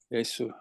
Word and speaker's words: 예수: 감사드리며 이 모든 말씀 예수 그리스도 이름으로 기도드렸습니다. 아멘. 네. How do you say Jesus in Korea? Is it Yesu? 예수. Yes. 야. Yesu.